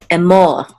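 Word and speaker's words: אמר: So this is and this is a mem with a cholem, and then this reish together says mor, Emor, Emor. And the accent is on the second syllable because of this trope mark.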